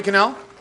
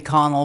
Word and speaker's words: Connell: you thank you canal and then Lin ohms me actually mr. mayor it's Connell but that's okay it's been mispronounced all my life mr.